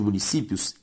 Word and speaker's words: municípios: A sílaba tônica de municípios, si, é a penúltima, ou seja, uma palavra paroxítona.